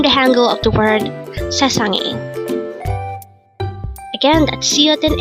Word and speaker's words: 세상이: Sesangi. Sesangi. This is pronounced as a three-syllable word. The first syllable is se, second syllable is sang, and third syllable is i.